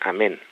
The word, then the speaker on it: Amón: Amón, que significa, que se pronuncia en egipcio, se pronuncia amén, ¿no?